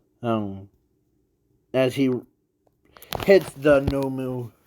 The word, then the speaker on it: Nomu: and in the process not MooMoo but the no moons no moo M or no n o m o or n o m u yeah I'm trying to spell it out so yeah so the